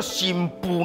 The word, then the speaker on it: 新婦: 奇怪啊，这个夫是妇人人的夫，啊那念作新妇呢？因为拗音哦，新妇新妇哦啊，咱这